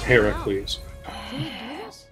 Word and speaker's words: Heracles: represent strength in including Heracles ooh got him and yes I Ed the proper Greek pronunciation it's Heracles are you kidding me